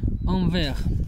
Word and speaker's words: envers: Envers. Pronounced like the verse. Envers, but without the S at the end.